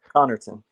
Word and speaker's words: Connerton: in the title he is Julian Jiggy Jiggy Connerton how do you say the last name boss Connerton Connerton my fault I didn't want to [ __